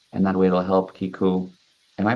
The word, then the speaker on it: Keiko: through your link and that way it'll help Kiku am I pronouncing your name right yes yeah uh and